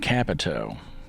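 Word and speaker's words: Kapito: is a guy named capito kind of rhymes with capital just so happens that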